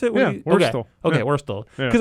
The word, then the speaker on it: Wurstle: Like the worst L. Wurstle? Like L. The Is worst. is that how you pronounce it? Yeah, Wurstle.